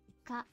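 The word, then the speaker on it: か: Ka. Ka. It's a consonant followed by a vowel. Makes up a single syllable.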